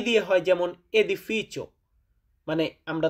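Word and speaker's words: edificio: বলি এটাকে এ বলে ই দিয়ে হয় যেমন এদিফিচো মানে আমরা তো এ উচ্চারণ করব এদিফিচো এদিফিচ শুরুতে এ আছে এদিফিচো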